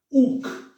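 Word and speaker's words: οὐκ: El diptongo ou, que sería una omicron, una O pequeña diríamos, omicron, Y, ¿ven? Es decir, se pronuncia como nuestro U, como en castellano, como una U, U.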